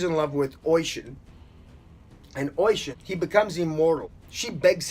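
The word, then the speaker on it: Oisín: the wandering of ocean that's oh I si n Ayatollah it's pronounced ocean the poem the wandering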